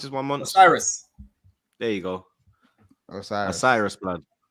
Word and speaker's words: Osiris: How you pronounce this one, Monts? Osiris.